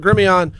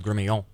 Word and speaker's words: Gremillion: I think the true pronunciation is Gremillion. That would make sense. I've always said Gremillion. Proper French.